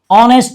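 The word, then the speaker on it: honest: অনেস্ট ও এর মত উচ্চারণ।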